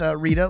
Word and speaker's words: Reda: Ironically though, David Reda, while it is pronounced Reda, like to read a book, it is actually spelled phonetically R-E-D-A.